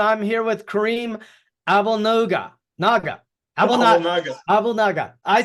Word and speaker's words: Abouelnaga: Abouelnaga.